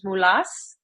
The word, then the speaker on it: Moulos: really excited to introduce Our Guest Today mulas welcome to the show my pleasure thanks for